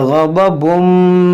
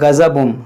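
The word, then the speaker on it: غضب: देखिए ग़ज़बुम मिर रब्बिकुम, यहाँ पर बाद क्या पढ़ते हैं गज़बुम, ज़ाद पढ़ते हैं गज़बुम, तो ऐसा आपको नहीं पढ़ना है, ग़ज़बुम पढ़ना है।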